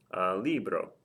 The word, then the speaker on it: libro: Libro, libro, libro. The stress is over the I.